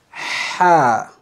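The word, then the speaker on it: ح: Ha. Remember, we pronounce from the truth, okay? Ha, ha, ha. Make sure the air comes from your truth.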